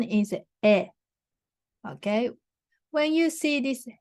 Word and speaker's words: へ: um when you write a letter or email you will put the hair but the pronunciation is a so for example you